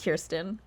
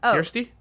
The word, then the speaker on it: Kirsty: pronounce her name correctly is it Kirsten no it's a k-i-r-s-t-y is it Kirsty sounds like okay Kirsty yeah it's like it's